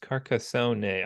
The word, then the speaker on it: Carcassonne: a uh oh yeah victory for carcone or carcasson or whatever this is pronounced carcassone I just be carcassone I don't know where I got the na from anyway um all right